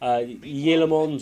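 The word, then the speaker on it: Tielemans: You know, a lot of people have been saying in my messages, you know, it's Yelemons. The T is like a Y.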